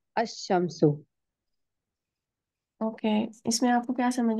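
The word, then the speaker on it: الشمس: टू the solar letters Al Shamshu the सन is pronounced a शमसो okay इसमें आपको क्या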